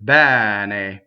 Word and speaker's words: ben: is the full word b okay so uh this e is an open E it rhymes with a head in English right so it's like